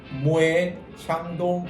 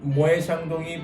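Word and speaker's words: Moët & Chandon: 대부분의 분들이 또 이 발음을 모엣 샹동 이렇게 발음하는 분들이 많아요. 그렇죠. 요거는 사실 저도 조금 얘기를 들어보고 싶었는데 네네. 왜 모에 자. 모에 샹동이라고 하는 거예요?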